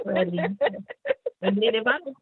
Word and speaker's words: Freddi: So do you get that as well, where people may not know how to pronounce it because it's okay? So that's I still get Freddi. It's like it's Freddi.